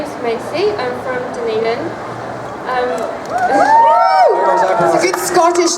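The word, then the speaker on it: Dunedin: is Macy I'm from denan um a good Scottish name d didn't I like you already I've been pronouncing it Dundon for ages I like that D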